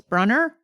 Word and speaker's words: Brunner: Do we think it's Brunner or Bruner? I went with Brunner in my head. Rhymes with Brunner. Yeah. Right in nicely. The double N. Yeah. Lean. Yeah, seems like runner.